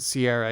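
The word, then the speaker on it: Ciara: mckenna and clara bravo isn't it sierra bravo c-i-a-r-a well some people pronounce it sierra yeah yeah okay i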